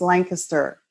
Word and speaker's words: Lancaster: hard not to not to go no it's Lancaster you know I had somebody asked me once